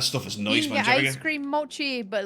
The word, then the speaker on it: mochi: Mii instead you got mocky mochi mochi is how you pronounce it is a mochi mochi